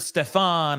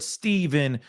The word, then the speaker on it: Stephan: name is stepan Sterns I've heard Stefan I've heard Stephen I think it's just stepan Sterns but to make it